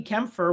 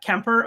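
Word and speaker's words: Kuemper: I go, okay, Darcy Kempfer, without Googling, I thought he was German or something with a name like Kempfer. So Darcy I didn't. Kemper? Yeah, Kemper.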